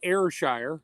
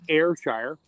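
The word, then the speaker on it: Ayrshire: a side note the other cow you mentioned airshire that's how you pronounce it airshire I had a customer for the company I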